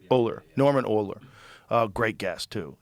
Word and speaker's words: Ohler: It's called Blitzed by, how do you pronounce his name? Norman Ohler, right? Ohler.